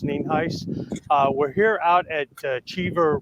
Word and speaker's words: Nienhuis: Again, my name is Hernando County Sheriff Al NIENHUIS, spelled NIENHUIS, and it's pronounced NIENHUIS.